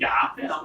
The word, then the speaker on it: 야훼: 여러분 본래 여호와를 바르게 발음하면 야훼라고 말씀드렸어요.